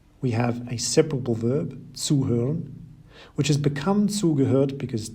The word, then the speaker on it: zuhören: In this example too, we have a separable verb, zuhören, which has become zugehört because zu is a separable prefix on which the stress is laid when you pronounce it.